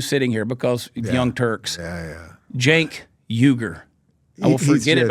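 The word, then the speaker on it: Cenk Uygur: His name is pronounced Jank. Jank. See, that's some bullshit. How does he say his last name? Uyghur. Jank Uyghur.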